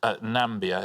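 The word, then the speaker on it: Namibia: How do you pronounce it? Nambia is how you pronounce it.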